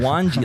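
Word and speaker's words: Gwangi: g-r-a-n-g grangy i grangie you're pronouncing that like guanji like a w guangzi g was what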